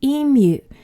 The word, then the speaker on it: emu: my pronunciation guide there Americans often say EMU but we should call it an emu so now you